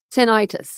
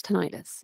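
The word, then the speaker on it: tinnitus: Not not all the time, but a lot of times tenitis. Tonitis. Yeah, that's how you say it.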